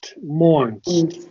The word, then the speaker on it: mourn: Mo that saan must die yeah it's mour mourn think of mourning morning m o n i